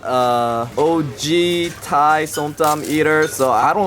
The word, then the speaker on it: som tam: So we ordered the som tam and this. Okay, smart Alec, how do you pronounce som tam?